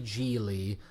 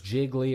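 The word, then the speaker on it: Gigli: title Char or the title character is Larry jeely played by Ben Affleck and at the beginning of the movie people mispronounce his name as jiggly or giggly and I thought it was a few a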